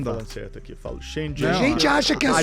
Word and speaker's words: Shenzhen: Mas o Shenzhen, só pra concluir, se você não olhar pro lado pra atravessar, você é atropelado.